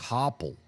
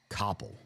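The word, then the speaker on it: Coppell: That's uh that one is said co c copple. Coppel. I could I could see people pronouncing it both ways.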